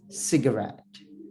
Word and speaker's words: cigarette: second example right there C for cigarette cigarette is pronounced as okay cigarette cigarette so buy this you